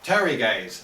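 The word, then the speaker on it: pteruges: the bottom we have things called ter gaze spelled with a p uh just means feathers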